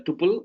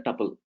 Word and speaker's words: tuple: So you can pronounce like either tuple, either tuple, whatever it is.